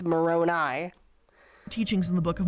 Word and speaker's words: Moroni: It's not Moroni, it's Moroni.